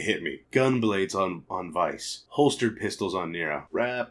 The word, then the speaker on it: Weiss: It's Weiss, or Vice, however you say his name. It's Vice and Nero, the brothers that would be Sephiroth.